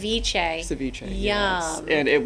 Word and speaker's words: ceviche: Am I pronouncing that correct? Ceviche.